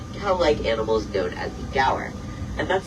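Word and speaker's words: gaur: In that huge pasture, we'll be on the lookout for some very large cow-like animals known as the gower. And that's spelled G A U R in case you were curious.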